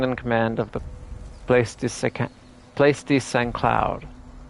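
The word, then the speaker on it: Saint-Cloud: Lieutenant Colonel Debbachman, second in command of the place secloud. I don't think you pronounce this T in French stuff.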